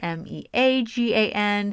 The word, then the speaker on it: Meagan: My name rhymes with vegan, but it does not spell like vegan. It's got an A in there, Meagan.